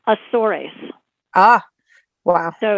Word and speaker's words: Azores: or Azores it's actually if you pronounce it in Portuguese it's asaurus ah wow so it's